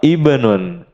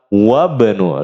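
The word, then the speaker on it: ابن: Yang kedua, ibnun. Ibnun dibaca di awal kalimat, tidak dibaca di tengah. Maka dibacanya gimana? Ibnu Khalidin fil madrasati. Putranya Khalid ada di sekolah. Wabnu, lihat. Wabnu gitu cara bacanya.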